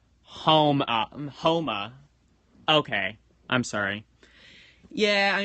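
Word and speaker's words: Houma: Halma, Louisiana. Alright. And Barnstaple, Devon. Oh, pronounced like Homa.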